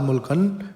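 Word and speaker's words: 물건: त्यो ल लगत्तै माथि ग आयो भने चाहिँ क उच्चारण हुन्छ, त्यही भएर मुल्कन भनिएको है त।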